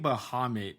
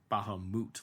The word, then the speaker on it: Bahamut: something like that but it's like Bahamut like the U is like the O not the uh sound so like it it